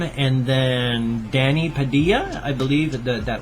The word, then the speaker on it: Padilla: name and then Danny Padilla I believe that that would be pronounced Padia the Double L um in many languages comes with the like the why sound that that's why it's